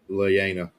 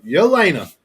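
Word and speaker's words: Yelena: Leana. Lena. Lena. Yena. Yena starts with a Y.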